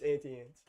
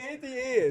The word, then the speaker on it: Auntie Anne's: Pretty sure I You say don't- Auntie Ann's. It's Auntie Anne's. It's not Auntie Ann's. Auntie Anne's. Not Auntie Ann's. No one's name is On. Their name is Ann.